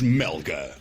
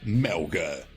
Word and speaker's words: MełgA: Inicialmente formados como um projeto de estúdio na Polónia, os Melga, às vezes pronunciado Melga, mas também ninguém se chateia se pronunciarmos Melga, tinham o seu supracitado estúdio num barraco no meio dos pântanos polacos.